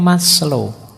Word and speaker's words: Maslow: masl Abraham masl ini bukan mas lo membacanya ya maslo itu nama Jangan dibaca